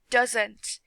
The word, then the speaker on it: doesn't: The pronunciation of this word is doesn't. You need to say it fast, not like does not.